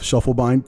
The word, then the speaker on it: Schiefelbein: Um, it's it's Shufflebine. pronounced that right.